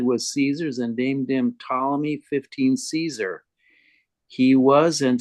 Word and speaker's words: Ptolemy: It's just so hard to pronounce the P and T together that it's generally just dropped. Yeah. Ptolemy. I say Ptolemy.